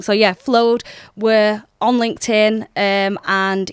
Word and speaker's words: Flowd: end some people get the name wrong it's flowed yeah people pronounce it wrong so yeah flowed we're on LinkedIn um and yeah mainly our